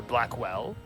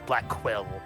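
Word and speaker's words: Blackquill: God a cello prosecutor Blackwell Blackwell as been pronouncing it black well when it's black quill yeah I I sometimes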